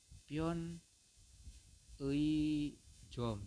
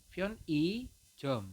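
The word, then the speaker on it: 편의점: nah pion e Jom ini salah teman-teman ya salah ya karena e si E ini ada di tengah maka anda membacanya adalah pion eh pion I Jom seperti itu ya Jadi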